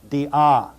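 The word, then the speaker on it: διά: is over the Alpha and the word is pronounced Dia Di Dia Dia the next word is the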